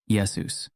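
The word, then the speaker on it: Ἰησοῦς: or letters for example Greek does not have a sh sound found in Yeshua so the Greek form became Yus Greek also required masculine names to end in s leading to the final form yesus this adaptation was necessary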